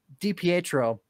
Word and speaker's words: DiPietro: the petro dpatro dpatro thank you goodness we've mispronounced that name so much michael de dipietro anyways the the maltsev goal was by him